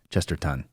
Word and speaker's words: Chesterton: Not tin, ton. Ton. It's spelled ton. Chesterton.